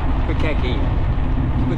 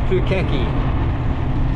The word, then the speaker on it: Pukaki: End of Lake pukaki kukaki turn that wrong name wrong it's pukaki and we're right at